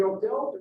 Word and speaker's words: Odell: Second question, were the Odells originally a Puritan family? No, the Odells were Dutch and English. One of the pronunciations of the name is Odell.